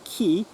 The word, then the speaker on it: ki: running through them and we pronounce it ki but it is chi in chinese and interesting thing is